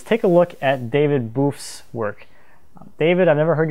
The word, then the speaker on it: Boeff: a look at David boof's work David I've never heard you say your last name so I'm going to go with what I'm considering the French pronunciation of your last name you let me know